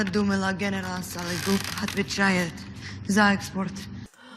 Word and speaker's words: Сологуб: the last name, Сологуб, Сологуб. So basically, we're talking here about a simple reduction of the vowels which are not stressed. She even pronounced the ending, the last letter, B as P, which is correct.